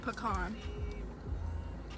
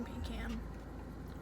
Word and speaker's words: pecan: word pecan become our pecan pecan look on that sounds weird would you like a pecan like that pecan no I say Pokemon good let's put kanpai not pecan pie like a pecan pie yeah it's pecan right I'm regretting getting